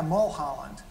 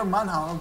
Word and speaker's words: Munholland: Everybody I ask, you know, if you know the church, oh yeah, Mulholland. They can never say it right. But we're Munholland.